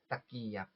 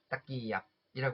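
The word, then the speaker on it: ตะเกียบ: 젓가락은 두 음절로 발음하시면 돼요. 이렇게 딱끼얍, 딱끼얍이라고 하시면 되거든요.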